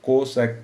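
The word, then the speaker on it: cosec: equal to short में अगर हम इसको प्रोनाउंस करें तो कोसेक थीटा बोलेंगे और वन ओवर कॉस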